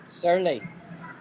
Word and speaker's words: surly: the same thing at all is this word, surly.